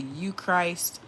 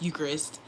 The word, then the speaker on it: Eucharist: All right, the devotions of the books emphasize devotion to the Eucharist as the key element of spiritual life. Okay, and I said it wrong. It's Eucharist, also known as Holy